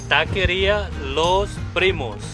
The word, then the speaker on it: Taqueria Los Primos: How do you pronounce the name? You say Taqueria Los Primos.